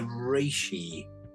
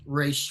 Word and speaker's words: reishi: This is I'm going to mispronounce it, but the reishi. Yes, reishi.